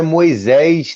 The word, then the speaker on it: Moyseis: Meu nome é Moisés, dessa maneira que se escreve, né? Moyseis, né?